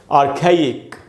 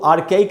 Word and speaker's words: archaic: तो दोस्तों इसका प्रोनाउंसिएशन है आ खे और इक, ई दो बार है। इसको आर्खाइक नहीं पढ़ना चाहिए, आर्खाइक, आर्खाइक। आप समझ गए?